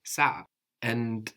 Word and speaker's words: saa: plural is also s so we have s a a and the accent on the first a s so we have